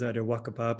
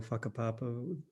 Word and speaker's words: whakapapa: One of them is Wakapapa or Whakapapa, my tribe would pronounce it.